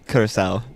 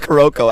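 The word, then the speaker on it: Curaçao: Curacao.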